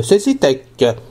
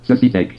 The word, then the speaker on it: Cécitek: Aujourd'hui, site de Cecitech. Cecitech s'écrit C-E-C-I-T-E-K.